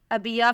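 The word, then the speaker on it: Abiya: और संक्षेप में नाम है अबिया फातिमा, इसकी स्पेलिंग AB है।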